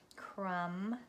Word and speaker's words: crumb: The B is silent, as in comb. We talked about that, comb, crumb, thumb, and sleigh, E-I-G-H, E-I-G-H, all says A.